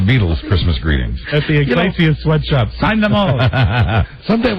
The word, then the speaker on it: Iglesias: You always pronounce the name. Is it Iglesias or Inglesias? That's why he likes me best, Mike. Because you mispronounce his name? Julio Iglesias.